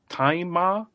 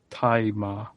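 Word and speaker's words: Tzi Ma: Who is played by, I think his name is pronounced Taima. It's spelled T-Z-I, and then his surname is just M-A. But, so I think it's Taima. Is how you pronounce that.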